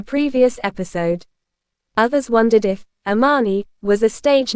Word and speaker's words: Amani: My name is Ammani and it's actually pronounced Ameni.